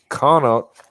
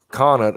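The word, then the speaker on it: Connacht: leprechaun the meat leprechaun the connot conant i think is how it's pronounced and the muster leprechaun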